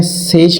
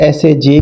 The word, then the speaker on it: SAJ: Upgrade कर रहे हैं सेज के इन्वर्टर के साथ। एस ए जे भी कहते हैं। इसको सेज भी कहते हैं, सच भी कहते हैं। तो बहरहाल तीनचार तरीके से प्रोनाउंस होता है।